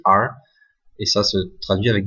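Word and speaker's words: 二: Donc 1 c'est I en chinois, et ça s'écrit avec une barre, et 2 ça se dit R, et ça se traduit avec 2 barres.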